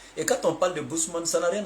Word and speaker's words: Bushman: Bon, en fait, le terme Bousman là, c'est les gens qui prononcent mal. Sinon, c'est Bushman en anglais, Bushman.